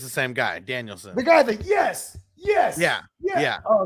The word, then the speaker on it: Danielson: Yeah, so he was with Nikki, and Bryan Danielson was with Brie. So they were like, it's Danielson or Daniels? Bryan Danielson. Oh, for real?